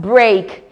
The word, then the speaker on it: break: We have in the word break e a sounding a.